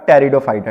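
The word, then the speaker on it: Pteridophyta: पर ये हो गया आपका टेरिडोफाइटा ठीक है टेरिडॉम में पीस साइलेंट होता है ठीक है और यहां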